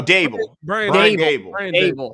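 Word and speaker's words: Daboll: you say his last name uh is it the bull oh dabel there we go i knew i was saying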